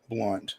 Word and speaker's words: Blount: Specifically Blount County. Not Alcoa's no, not Blount. Blunt. The O is silent, I guess.